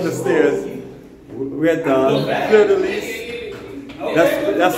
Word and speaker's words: Fleur de Lys: We're at the Fleur de Lis. That's spelled F L E U R.